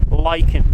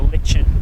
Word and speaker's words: lichen: The first is the lichen or the lichen. I say lichen, I've heard some people say lichen. Lichen is the pronunciation I'm going for.